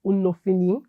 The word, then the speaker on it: Unofini: His name is Unofini. Did I pronounce that?